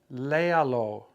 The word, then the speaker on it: léalo: I would simply say léalo. As soon as you add that one pronoun to the command, you've got to go back 3 vowels and put an accent mark so that we